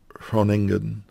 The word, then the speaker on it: Groningen: So the G is silently pronounced apparently, so Groningen. I think that's close.